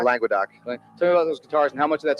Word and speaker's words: Languedoc: How do you pronounce it? Languedoc? Languedoc.